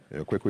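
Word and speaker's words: Quaicoe: Kweku is spelled Q-U-A-I-C-O-E.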